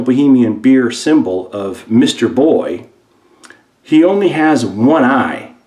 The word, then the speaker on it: Boh: And finally, this is pretty cool, Baltimore's most famous brew, National Bohemian Beer, otherwise known as Natty Boy, and boy is spelled B-O-H.